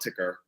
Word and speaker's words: TKR: I prefer to call it ticker.